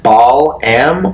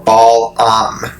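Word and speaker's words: Balam: me read it so belong pronounced as ball M or ball up some helps with the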